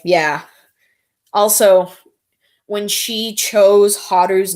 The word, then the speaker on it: Haru: Plus, Haru rhymes with Paru, like the creator.